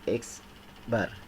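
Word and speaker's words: x̄: Ini dibacanya adalah X bar. Jadi X di atasnya ada tanda garis itu dibacanya X bar.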